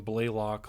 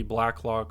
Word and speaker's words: Blacklock: forgive me last week I was pronouncing his name Blaylock like every time and and it was spelled correctly black lock on my screen I mispronounce it like every time I said it so forgive me there